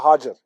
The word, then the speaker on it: Hajar: How do you say it? We call it Hajar.